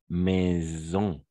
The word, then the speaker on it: maison: d'accord par exemple et si le S se trouve entre deux voyelles par exemple dans la dans le mot maison d'accord il y a une vibration c'est comme une abeille